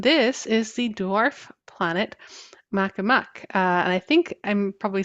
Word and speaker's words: Makemake: And this is the dwarf planet Makemake. And I think I'm probably saying it wrong. I think Um, it's Makemake.